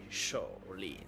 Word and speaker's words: Sha Lin: Shaolin plutôt, on prononce pas le H en français.